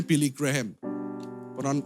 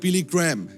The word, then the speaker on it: Billy Graham: Billy Graham. Orang Indonesia ngomongnya Billy Graham. Pronunciation yang benar sebenarnya Billy Graham.